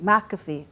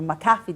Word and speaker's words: McAfee: mentioned one norton there's also another one like mcafee or mcafee depending on how you want to pronounce it and avg but a lot of